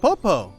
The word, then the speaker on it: Poppo: In Japanese, Pidgey is pronounced Poppo.